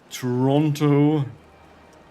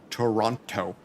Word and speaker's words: Toronto: Toronto. Or if you really want to mess them, pronounce the T. Toronto. And make everybody, every Canadian cringe.